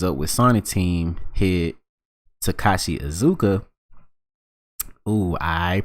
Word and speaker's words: Takashi Iizuka: But when BBC Newsbeat catches up with Sonic team head Takashi Iizuka, ooh, I pronounced his name right this time.